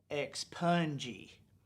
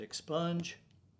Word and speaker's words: expunge: can't believe this one ex punji expunji i pronounce it expunge but she pronounced it ex punji and we wonder why